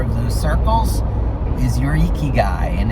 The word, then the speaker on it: ikigai: purposes in life icky guys if you will ikigai guy gotta get that pronunciation now that i've heard it doesn't sound like icky guy all i can think